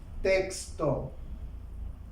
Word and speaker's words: texto: Otro ejemplo, la palabra texto. La sílaba tónica está en tex, antes de la última, termina en vocal.